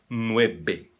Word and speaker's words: nueve: Todas as Vs soam B de bola em espanhol. Então, seria nueve. Nueve. E não nueve, como os brasileiros fazem.